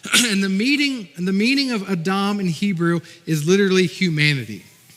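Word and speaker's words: אדם: And you may say Adam, but they pronounce it Adam. And the meaning of Adam in Hebrew is literally humanity.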